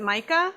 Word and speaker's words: Micah: Is it Micah? Micah, yeah. Micah, okay.